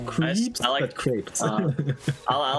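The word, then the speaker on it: crêpe: Like uh ah it was creps with uh a crepe. Not crap, but crep. Crepes. It's crepes. Okay. It's pronounced crepes in English.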